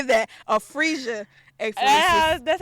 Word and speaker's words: apheresis: Because every page I turned, it was now I got, what was it, aphasia? Is that how you say it? Apheresis.